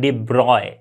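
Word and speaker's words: de Broglie: डी ब्रोग्ली इसको कहीं इसका जो एक्चुअल प्रोनंसिएशन है वो क्या है डिब्रॉय इसे हम इस तरह से प्रोनाउंस करते हैं डिब्रॉय ओके तो बट नॉर्मली हम इंडिया में डि ब्रोग्ली ही बोल देते ओके डिब्रॉय बोलोगे तो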